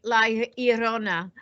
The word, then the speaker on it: La Llorona: It's a double L. It is pronounced like La Llorona.